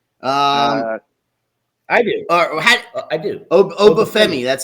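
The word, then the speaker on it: Oba: the NXT champ um I do I do Obi that's how you say it okay I was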